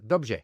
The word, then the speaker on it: dobrze: So in Czech, for example, the R-E is pronounced rj, dobrze, for well, where the same word in Polish is pronounced dobrze.